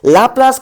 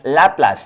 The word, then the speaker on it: Laplace: correction to Newton's formula laas LA or laas it depends on you so I pronounce as lapas lapas correction lapas correction